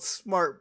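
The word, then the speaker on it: Smartt: has a place that's called smart but it's spelled s-m-a-r-t-t i am so smart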